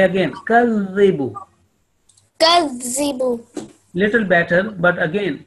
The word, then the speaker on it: يُكَذِّبُ: Make your face flat and smiling when you pronounce this Zal, and your tip of tongue is touching your upper two teeth.